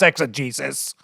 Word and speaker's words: exegesis: word means I know I know how to pronounce exegesis he said I want to tell you something